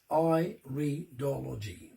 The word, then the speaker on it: iridology: and the science of iridology pronounced i redology right um when i